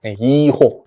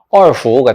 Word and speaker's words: 二胡: 이호, 중국 발음으로 읽으면 얼후가 되겠죠.